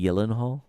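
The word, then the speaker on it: Gyllenhaal: that's acting um do you know it's actually yenal really yeah Jake yenal that's how you actually say we've been pronouncing it this way our entire the Americans pronounce a gyllen hall but it's Swedish and it's actually Yen Hall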